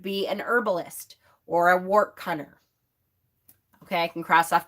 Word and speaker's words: wortcunner: Another way to think about this is usually herbalists or what's called wart cunners. That's an old term that is kind of coming back a lot, and it's spelled WORTCUNNER, is a wart cunner.